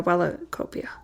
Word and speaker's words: Wellacopia: Yeah, Wellacopia. And how do you pronounce it?